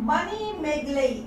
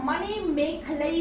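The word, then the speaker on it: மணிமேகலை: अब हम बात करते हैं मणिमेगलई। इसको मणिमेखलई भी कहा जाता है, मणिमेखलई कहा जाता है, अलग अलग उच्चारण के साथ, जो कि हम तमिल नहीं लिख रहे हैं इसीलिए इसका सही लिखना थोड़ा मुश्किल है।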